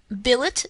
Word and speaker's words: billet: mind seen mpom mankind Billet does not rhyme with ballet bouquet wallet Mallet Chalet